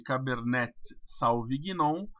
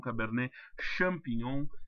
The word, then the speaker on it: Cabernet Sauvignon: Se escreve Cabernet Sauvignon, mas se lê Cabernet Sauvignon. Uma vez eu estava atendendo uns clientes e me pediram para tomar um Cabernet Champignon.